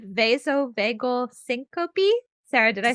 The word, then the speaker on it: vasovagal syncope: It's called vasovagal syncope.